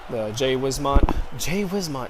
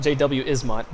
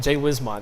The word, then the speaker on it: Jay Wismont: Jay Wismont. That was right. That's right, actually, right? It's not JW Ismont. Jay Wismont. That's how you pronounce his name.